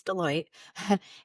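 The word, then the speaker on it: Deloitte: global brand, wellrecoognized brand, some people can't pronounce Deote, but it's Deote and and and a wonderful company.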